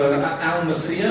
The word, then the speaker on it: Almythea: I believe we have another panel coming up in here for Almythea, I believe it's pronounced. Have I got that correct? Yes. Yeah, got it right.